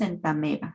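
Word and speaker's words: Entamoeba: cuando hay un diptongo, constituido en este caso por una O y una E, el sonido de la vocal que es diferente a la E se va a suprimir y es por eso que pronunciamos entameba.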